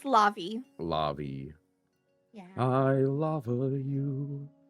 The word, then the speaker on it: Lavi: I keep saying your name wrong. I'm so bad about that. Lavi. It's okay. Uh, It's Lavi.